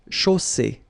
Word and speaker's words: chaussée: And then you get the double S between two vowels, so it's really strong. I mean, the S is s. Okay, so une chaussée.